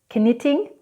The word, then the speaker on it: knitting: Whenever you have K and N together, the K is not pronounced, like in the words ni or no.